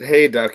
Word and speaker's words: Hayduk: It's Hayduk. Yeah, it's like hay and duck without the C.